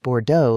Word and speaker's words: Bordeaux: The uncle, Tommy Vance, the desert auto man himself, claimed to be a wine collector but pronounced Bordeaux like it rhymed with hairdo.